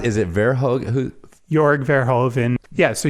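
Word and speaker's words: Jörg Verhoeven: copperheads on elcap like yeah how do you pronounce is it verog who yorg verhoven yeah so yorg verhoven and Barbara zangl babsy I mean they they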